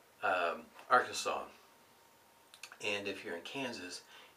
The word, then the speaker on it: Arkansas: part of the world it's not the Arkansas River it's the AR Kansas